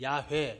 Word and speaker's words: 야훼: 여호와 또는 야훼 이렇게 번역돼요. 야훼, 여호와. 발음은 야훼가 더 가까워요. 여호와는 후대에 이제 아도나이하고 붙어서 나온 발음이에요. 여호와를 읽는 게 원형의 이 발음은 야훼예요. 야훼.